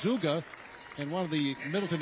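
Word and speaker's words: Zugge: blocker I had him pronounced his name because it's spelled Zu gge the other day he said it's zuga and one of the Middleton assistant coaches says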